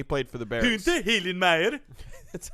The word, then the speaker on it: Hillenmeyer: Hunter Hillenmeyer. That's how you pronounce it.